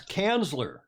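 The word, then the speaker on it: Kanzler: which is in june now come on pronounce pronounce chancellor in german because it's an interesting word given today's culture um it's kansler it's the cancer consulate you're right tom your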